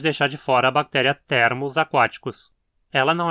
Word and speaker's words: Thermus: Thermus só tem 2 sílabas, então só pode ser paroxítona.